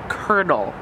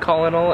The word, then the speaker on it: colonel: but call in all co loa do is pronounced colonel this is the most annoying thing I think like the way I found out that this is the thing is because I said Colin all and then sort of like you're an idiot